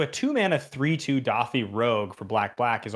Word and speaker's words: Dauthi: creates are you thinking are you saying dothi like doth d-a-u-t-h-i that yes is